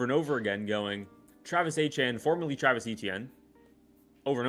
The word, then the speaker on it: Etienne: I'm not even 100% sure if it's Etienne He says Etienne I think. Yeah. Etienne it's like the French The French pronounce it like Etienne is like a